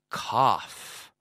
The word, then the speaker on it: cough: Como si fuera un F o dos Fs.